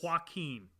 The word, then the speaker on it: Joaquin: I looked up Joaquin Phoenix on Google, and I just feel like all these pictures are different men.